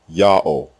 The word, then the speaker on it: Ya'oh: closes the first syllable the third letter W is the long o vowel like the second letter the fourth letter is also silent it assumes the sound of the previous vowel and closes the terminal syllable God's proper name is therefore pronounced yah pause o full stop Yao any vowel system other